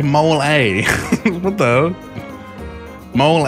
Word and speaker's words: mole: You say it like mole A.